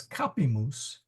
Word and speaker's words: capimus: And in fact, that's important because capimus, the accent is on the ka. That's not long, that's not long. So we go to the third syllable, capimus.